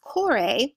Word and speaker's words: Kore: This is known as the Peplos Chore. So it's spelled Kore.